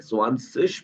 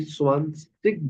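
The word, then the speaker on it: zwanzig: 20, या फिर अच्छा, इसकी 2 प्रोनाउंसिएशन है। स्वांसिश भी बिल्कुल ठीक है, अगर कोई स्वांसिश बोल रहा है वो भी ठीक है, और अगर कोई स्वांसिग बोल रहा है, स्वांसिग, वो भी ठीक है।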